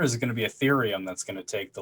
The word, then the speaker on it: Ethereum: do anything else but is it erythrium ethereum how do you how do you pronounce that eth pth ethereum ethereum okay so eth i i